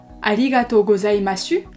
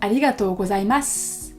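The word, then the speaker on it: ありがとうございます: le son en su 95% du temps lorsqu'il y a un mot qui se termine en su en fin de phrase il va pas se prononcer dessus mais comme un petit serpent donc par exemple pour remercier de manière pollue on dira pas aligato gozaimasu et on dira alligatozaimas donc on sent bien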